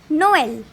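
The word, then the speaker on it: Noël: for example garson and lastly the fifth accent is tremor it is used above e it is used to separate the pronunciation of two vowels for example noel thanks for watching the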